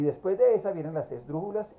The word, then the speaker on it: esdrújula: Porque, por ejemplo, la palabra esdrújula precisamente es esdrújula. Lleva el acento de la tercera sílaba de derecha a izquierda y va a tener tilde.